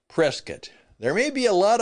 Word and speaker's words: Prescott: that, of course, uh, we call it Prescat.